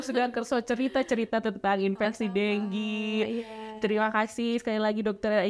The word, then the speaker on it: dengue: Jadi maksudnya letterlah gitu kita membaca dengue gitu ya, tulisannya dengue gitu ya. Juga ada. Cuman mungkin bisa lah kita menyampaikan ke teman-teman semua bahwa mungkin bacanya adalah dengue.